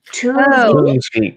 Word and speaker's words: Toonsvik: This is how you pronounce Jay's last name. Toonsvik.